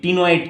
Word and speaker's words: ctenoid: दूसरा और भी एक तरह का स्केल रह सकता है जिसको बोलेंगे टिनोइड scale, टिनोइड scale, CTENOID, टिनोइड scale. It सी का प्रोनाउंसिएशन साइलेंट रहेगा, ये भी बता दे रहा हूँ।